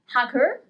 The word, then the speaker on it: hacker: We don't pronounce the letter H. Hacker, hacker.